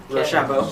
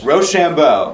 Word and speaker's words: Rochambeau: Rochambeau. Rochambeau. Rochambeau. Like rock, paper, scissors.